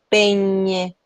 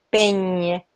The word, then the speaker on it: peñe: La ñe en nuestra lengua, cuando la pronunciamos en nuestra boca, va siempre a jalar una especie de i. Hay una i que ahí yo no sé si ustedes la escuchan cuando yo digo peñe, peñe, peñe, niño, niño.